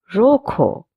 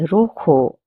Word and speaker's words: rojo: Rojo, red. Roja, red. The J's pronunciation will be h, a soft k. That's why we say rojo and not rojo.